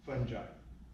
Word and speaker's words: fungi: Chemically by enzymes, and biologically with certain bacteria and fungi. And fungi are fun because you can pronounce it fungi or fungi.